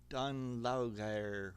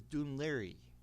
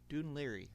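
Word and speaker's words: Dún Laoghaire: At first I was saying Don La or something like that is Dun Liry. Dune Liry.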